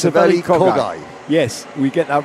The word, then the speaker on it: Saveli Kogai: We've been saying his name wrong all this time. And we both have been saying his name wrong, yes. But Saveli only thinks that you've been saying his name wrong. That's right, we've both been saying it wrong. It's Saveli Kogai.